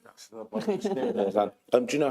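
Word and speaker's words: Mayos: Mayor's Land. How do you spell that? M-A-Y-O-S, like mayonnaise. Mayor's Land.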